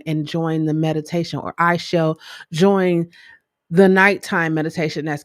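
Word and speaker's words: Aichel: name for a minute my name is i shall like a-i-c-h-e-l what whether you spell it like that or you just say i shall i shall start a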